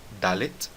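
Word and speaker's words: דלת: Note mais uma vez que eu disse Dalet e não Dalet. Tá certo? Eu não estou adicionando nenhuma vogal aqui no final da palavra. A letra Dalet termina com um T, então nós terminamos com som de T sem colocar uma vogal.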